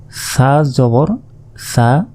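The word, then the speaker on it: ثَ: বা তা জবর তা ছা জবর সা আমরা আগের ক্লাসে বলেছিলাম এ ছা অক্ষরটিকে জিহবা বের করে উচ্চারণ করতে হয় তো এটা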